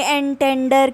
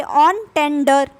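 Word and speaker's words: entendre: लेंगे, ऑन है ये, ऑन टेंडर, ऑन टेंडर, तो आपको इसकी प्रोनाउंसिएशन समझ में आ जाएगी। यानी डबल ऑन टेंडर, ऑन है ये, एन टेंडर नहीं है, ऑन टेंडर, double ऑन टेंडर।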